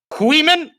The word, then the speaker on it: Queeman: We got Queeman. That's how you say it, right? Queeman? Yeah. Queeman's good.